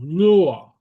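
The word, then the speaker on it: luath: your, and then a broad vowel, more like an English L, lua. Okay, uh, lua means fast. Okay. Oh, your means book. Okay, uh so lua means fast, and so you have a broad L.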